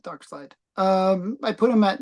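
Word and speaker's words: Darkseid: dark dark seed or dark side Dark Side nobody says dark seed oh my goodness um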